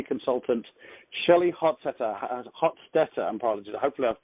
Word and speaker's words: Hostetter: me I can hear how do you pronounce your name Hofstadter oh I wasn't I wasn't like my was pretty close not too bad it was